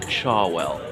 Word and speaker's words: Cherwell: that flows through Oxford I know it's spelled cherwell but pronounced charwell so charwell college has